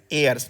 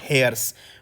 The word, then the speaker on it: heirs: So this word uh friends heirs meaning the successors okay it is pron pronounced as heirs not hairs okay so a i s airs so this is how you pronounce it please note this then